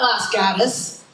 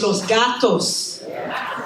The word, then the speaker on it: Los Gatos: that everyone pronounces wrong it's not Las Gus it's Los Gatos it's not San Jose